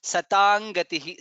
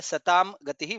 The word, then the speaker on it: सतां गतिः: I guess the first time you said this one correctly, which was Satang Gatihi. Second time I heard a Satam Gatihi, which is also correct. But after knowing how to be pronounced better, we can say Satang Gatihi.